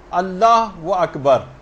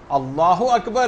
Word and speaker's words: اللہ اکبر: مثلا اللہ و اکبر، اللہ اکبر ہے، اللہ و اکبر نہیں.